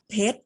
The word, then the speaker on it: เพชร: ใน มาตรา ตัว สะกด เรา ออก เสียง เพชร เรา ไม่ ได้ ออก เสียง รอ เรือ ไป ด้วย นะ คะ ทั้ง 3 คำ